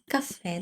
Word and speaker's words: caffè: Ch as in ciao, k as in caffè. Now you'll notice that both of these start with the letter C, but they're pronounced differently, right?